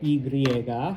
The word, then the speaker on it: y: the word and and it is pronounced like two English e's together e.